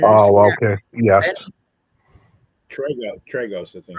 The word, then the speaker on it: Tragos: And it's Luthez and George Thangos, as my pronouncing Oh, that. okay. Yes. Tragos, I think. Tragos.